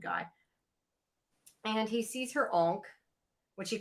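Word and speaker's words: ankh: And he sees her onk, which he calls an ank, which really annoyed me because it's an onk.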